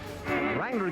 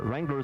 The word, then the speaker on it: Wrangler: Wrangler gives every guy and gal what they pay for at all ZCMI stores in the Utah area. Wrangler Sportswear, remember the W is silent.